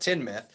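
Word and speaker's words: Teignmouth: Yeah, no, I want to call it Tyne, but it is Teen, and then it's called Tinmouth.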